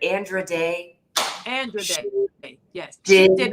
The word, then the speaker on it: Andra Day: I used to mispronounce her name, and I keep calling her Andra, but Andra Day.